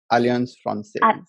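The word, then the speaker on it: Alliance Française: uh aliens friends so friends how do you pronounce that alliance process see allianz francis yeah yeah so alien sponsors helps you get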